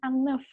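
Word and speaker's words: un œuf: Kalau satu telur aja, satu butir telur bilangnya ang neuf. Ada F-nya di belakang.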